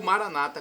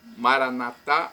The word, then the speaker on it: Maranata: vinde Senhor Jesus ou Maranata com a tônica na penúltima sílaba como dizem nossos irmãos separados os evangélicos ou Protestantes não importa a pronúncia Maranata ou Maranata significado eu